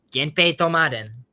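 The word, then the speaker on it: 源平討魔伝: Okay, this game you pronounce it as. Let's find out. 源平とまでん Genpei Tomaden.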